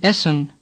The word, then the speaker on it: Essen: Say Essen. The first E is open, as in Berlin. The second E is like the sound A in Bremen.